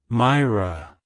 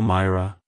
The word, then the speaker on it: Myra: gille in the 17th century it's pronounced as Myra Myra Myra to pronounce it correctly emphasize is the first syllable my Y and roll the r sounds softly in R like hello Myra goodbye Myra if you found the video helpful